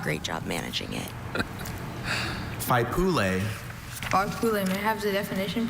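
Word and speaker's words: faipule: Are there any alternate pronunciations? I have just the one. Fool.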